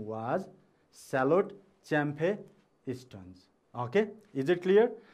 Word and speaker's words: Champe: And then middle name, C-H-A-M-P-E, Champe. Okay, you have to pronounce as Champe.